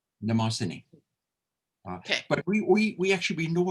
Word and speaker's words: Mnemosyne: Mnemosyne. The aim is silent. Mnemosyne.